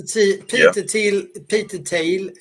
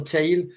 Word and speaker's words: Thiel: As I usually say, Brian, Peter Thiel, or Thiel, it's hard to pronounce or Thiel, as in English.